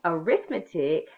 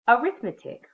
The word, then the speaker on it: arithmetic: When you're using arithmetic as a noun or perhaps a verb, you pronounce it arithmetic. When it's used as an adjective, it's arithmetic.